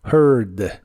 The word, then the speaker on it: heard: a oído de español en inglés es heard la H se pronuncia como una J suave de español y la a no se pronuncia Así que suena como herd pero tienes que pronunciarla con tu lengua lo más atrás y abajo que puedas y debe sonar como monstruo herd herd el verbo sentir o